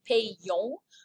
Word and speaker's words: payons: So it's nous payons, and you can hear it in the pronunciation. It makes a y sound, right? Nous payons, vous payez, but then it's back to il paye, P-A-I-E-N-T.